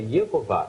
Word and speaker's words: Yehová: Ou seja, a pronúncia exata que eles pronunciavam era Yehová, era justamente isso.